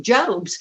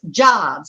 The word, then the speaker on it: Jobs: on the platform and i called him steve jobs you know when you read it doesn't tell you how to pronounce their names and from the audience somebody's sitting on the front row said uh miss walters that's jobs it's steve jobs hello so i was